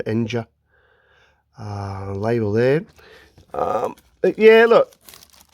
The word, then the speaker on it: Enja: Enya, I believe that's how you pronounce Enya, probably with a y, not a j, Enja.